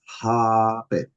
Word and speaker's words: habe: Now, the pronunciation is habe. So the A is long.